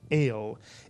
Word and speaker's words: El: The word is a one vowel and therefore a one syllable word. It's easy for you to pronounce it. The word is El, Mitsuyan, El.